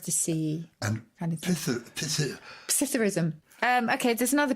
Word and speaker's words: psithurism: In fact, is the P pronounced? Should it just be Psithurism? Well, you can pronounce it either way. That's a good point. The dictionary will give both.